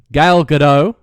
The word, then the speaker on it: Gal Gadot: Ben Affleck as Batman Henry Cavill as Superman gal gadot as my fall is that any pronounced okay good okay yeah good dog good